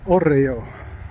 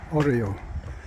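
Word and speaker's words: hórreo: And I looked up the word because I didn't want to pronounce it incorrectly, although I probably still will. Oreo. Oreo. H-O-R-R-E-O.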